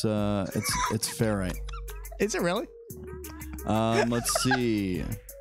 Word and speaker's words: ferrite: lounge would like you to know it's a ferrite ring, not a ferret ring. Excuse me. I had a pet ferret, and I never called it a ferrite. Thank you very much. Yeah, it's ferrite.